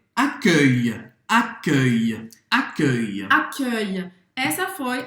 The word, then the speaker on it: accueil: Então, presta atenção, a dificuldade que a gente tem como brasileiro é porque esse som não existe no português, tá?